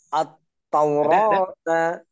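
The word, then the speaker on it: التوراة: At-Taurata. Nah, oke. Untuk pengucapannya, hati-hati. Untuk pengucapannya, coba Pak Agus nanti tekan dulu. Ya, maksudnya ada jeda. At-Taurata. Jadi tidak atau tidak terlalu cepat.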